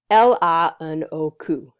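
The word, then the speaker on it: L.H.O.O.Q.: And if you say it correctly, the right way in French, it reads out LANOQ, which means she has a hot butt, or she has a hot ass.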